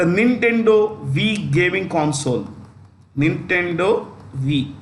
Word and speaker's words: Wii: it makes the nintendo wii gaming console nintendo v it's pronounced v okay gaming console so these kinds